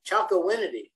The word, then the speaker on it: Chocowinity: article, and I'm going to probably butcher the pronunciation here, but the town of Chocowinity.